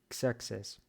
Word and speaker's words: Xerxes: Выглядит как русская буква Х, но она всегда произносится Xerxes.